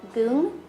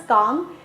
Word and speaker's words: Goong: a very long time, I legit thought it was Gong, and I think maybe a week ago, I finally saw the Hangul and realized I was mispronouncing that this entire time.